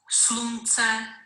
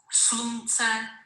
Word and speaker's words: slunce: Slunce, slunce.